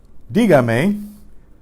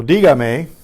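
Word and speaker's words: dígame: in the positive command D Gamay requires an accent added to preserve the stressed syllable so di may speak to me which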